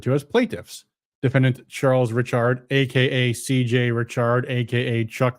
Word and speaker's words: Ritchard: The plaintiffs, the defendant is Charles Ritchard. That's how he pronounces it, I'm told. Not Richard, Ritchard, but okay.